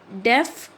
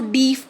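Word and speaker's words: deaf: कैन not walk properly, डेफ, कुछ लोग इसको डीफ प्रोनाउंस करते हैं, इट्स नॉट डिफ, इट्स डेफ।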